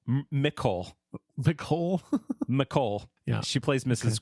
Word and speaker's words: Nicole: I want to talk about Nicole Mercurio, not Nicole, Nicole.